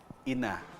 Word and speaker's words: Ina: na buuin ang UA Ina? Ina ba o paano ba siya bibigkasin, Ma'am Steph? Yes po, we usually pronounce it po as ina. Parang mother po.